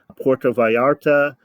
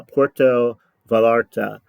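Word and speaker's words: Puerto Vallarta: heard for this but it's Porto like Puerto Rico and VA l l a r ta I pronounce it uh Porto valarta San Miguel D alende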